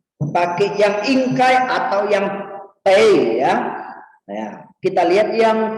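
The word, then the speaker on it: 得: Jadi bacanya tei ya. Ni tei chiyao. Ni tei chiyao. Nah, tei-nya di sini harus kejadian yang sudah pasti ya.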